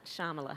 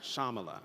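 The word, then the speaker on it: Shyamala: of your mother shamala so the Y is silent shamala shamala yeah what was shamala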